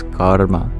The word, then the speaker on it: karma: In English, we don't roll the R. And in fact, you mostly don't. It is only if we turn back the time many thousands of years ago does the R become vocalic. So it's not just karma, it's karma. Actually, it's a vowel. So there's 3 syllables of karma. It's the ka, ur, and then the ma.